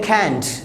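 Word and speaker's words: can't: अब देखिए मैं कैन नहीं बोल रहा हूँ, कैंट को कैंट बोल रहा हूँ, यानी कैंट बिल्कुल सॉफ्ट करके टी के ऊपर, यानी जो टे है हिंदी का उसके ऊपर आपको स्ट्रेस नहीं डालनी, कैंट नहीं बोलना, कैंट, राइट।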